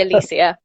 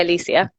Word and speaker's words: Alicia: But I tend to say Alicia. So I say Alicia.